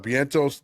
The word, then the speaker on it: Vientos: Soto's number two what bentos Den Alonzo yeah buddy Lindo hold on is Vientos one of these guys because he's Spanish we pronounce the v as a b that's what I